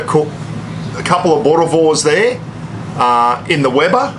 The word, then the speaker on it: Boerewors: do the old traditional bores and if you're wondering what a bore is I think I've got the pronunciation of that right you got to roll the tongue B and v b